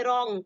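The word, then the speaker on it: wrong: जी रा रंग नहीं पढ़ेंगे इसको क्या पढ़ेंगे रंग पढ़ेंगे क्या पढ़ेंगे रंग ब्लू आर आई टी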